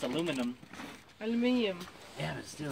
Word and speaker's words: aluminium: Aluminum. Last thing. Aluminium. Aluminium. Confirm. Engage. You gotta pronounce like the British.